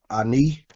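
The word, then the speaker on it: אני: This first word is ani. Means I. It's transliterated. You can spell it ani.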